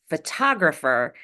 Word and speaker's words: photographer: When T is at the beginning of the strongest syllable, it's pronounced as a true T, regardless of whether or not it's between vowels.